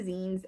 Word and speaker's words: zine: So yeah, I'm getting into zines, and I guess I never really explained what they are. But a zine is like pronounced like short for magazine, except they're anti-magazines, because